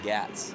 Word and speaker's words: Gats: I found out I'm saying number 4's name wrong the whole time. It's actually Gats. It's Gats? Gats. Wow. Not Gotes, it's Gats.